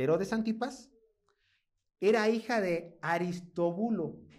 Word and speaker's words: Aristóbulo: En el texto mujer de Herodes Antipas, era hija de Aristóbulo. Ah, bueno, así se pronuncia, Aristobulo, hijo de Herodes el Grande y de Marián.